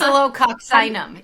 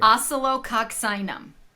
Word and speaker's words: Oscillococcinum: Like, Oscillococcinum. Yes. I've always wanted to know how you say it. What? Wait, say it again. Oscillococcinum.